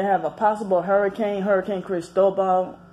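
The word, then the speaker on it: Cristóbal: martial law they have a possible hurricane hurricane Cristobal it's how you pronouncing Spanish is Spanish for Christopher so hurricane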